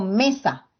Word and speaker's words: mesa: voz en la penúltima por ejemplo cuando yo digo mesa donde cargo la voz la m m y correcto entonces entonces por ese motivo es que es una palabra llana pero no iré gratis